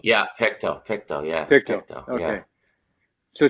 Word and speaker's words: Pictou: Is it proper pronunciation? Pictou, right? yeah, Pictou, yeah.